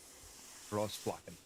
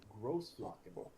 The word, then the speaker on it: Großflocken: That B is actually a double S. Is what you're looking at, because it doesn't connect. So how's it pronounced? Großflocken, or big area.